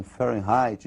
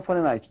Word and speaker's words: Fahrenheit: que a escala fahrenheit pra ele sair se pronunciam fé right nós vamos pronunciar aqui do modo aportuguesado seja nós vamos falar de fahrenheit mesmo é escolinha farinati também tem dois pontos fundamentais